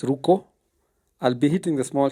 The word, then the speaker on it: Ruku: This place is called Ruku, but the locals pronounce it as Ruko.